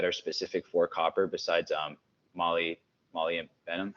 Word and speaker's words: molybdenum: any binders that are specific for copper besides molybdenum. How do I pronounce that again? That mineral? Molybdenum.